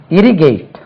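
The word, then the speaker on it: irrigate: ஜி ஏ டி இ first லெபில் தான் stress இரிகேட் இரிகேட்டட் ஐ ஆர் ஆர்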